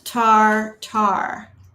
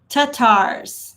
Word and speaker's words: Tatars: Not Tar. So it I probably said it wrong then. Tatars.